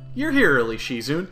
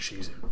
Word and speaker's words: Shizune: Shizun.